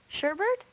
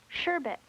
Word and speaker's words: sherbet: Sherbert? No, I'm afraid not. Oh, I see. I added an R. Sherbet.